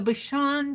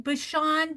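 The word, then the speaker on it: Bichon: you have a if am I pronouncing that right Bashan b i c h o n Bashan or Bashon Bashon some Bashon have been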